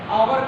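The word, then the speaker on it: hour: आर से सीर हुआ silent तो यहां पर है नहीं साइलेंट तो आवर में कर देते हो नेस्ट रहता है नेस्ट कहते हो हावर लिखते हो आवर कहते हो कुट और बट का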